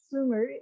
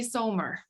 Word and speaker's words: Soomer: have with me sumer am i pronouncing that right yep yep bloomers so if you're swedish it would be somer oh okay and